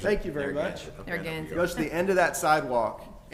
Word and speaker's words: Narragansett: Spell it for me. It's Narraga. Narragansett. Thank you very much. Narragansett.